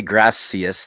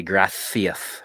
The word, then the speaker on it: gracias: Oh, because Spain, yeah, they don't say gracias, they say gracias with the th, gracias.